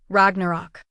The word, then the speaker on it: Ragnarok: Ragnarok, I said, pronouncing it like most Americans would then more properly with rolled ars and o the ways he said it. Ragnarok.